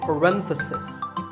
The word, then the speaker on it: parenthesis: about just one bracket you say parenthesis the stress is on rent if you're talking about both